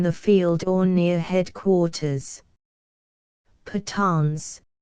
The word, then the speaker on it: Pathans: Pathans, pronounced Patan, an Afghan race settled in Hindustan and in eastern Afghanistan.